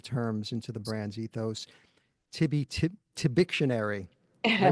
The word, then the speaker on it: Tibictionary: Tibictionary. Did I pronounce that right?